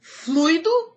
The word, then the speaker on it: fluido: Fluido ou fluido? Fluido. Na verdade, são coisas diferentes, né? Eu posso dizer assim, a aula tem fluído bem. E eu digo assim, o fluido de freio do meu carro precisa ser trocado.